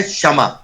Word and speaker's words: क्षमा: इसका उच्चारण बहुत सारे लोग कहते हैं क्षत्रिय करते हैं, कोई जैसे क्षमा बोल देगा, क्षमा बड़न को चाहिए, उसका शुद्ध उच्चारण है क्षमा, क्षत्रिय।